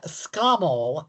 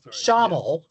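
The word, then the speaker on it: sceamol: Uh from the old English word scaml meaning footstool. Shyamal. Yeah. Oh, I'm sorry. I saw a C and thought it was a hard C.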